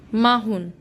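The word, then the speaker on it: 마흔: let's see 40 कैसे लिखते हैं हाउ व pronounce so इट्स माहु 4 माहु एम ए एच ई यू एन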